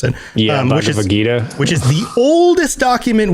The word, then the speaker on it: Bhagavad Gita: So Gilgamesh of the Bhagavad Gita, I think is how you pronounce it. Yeah, Bhagavad Gita.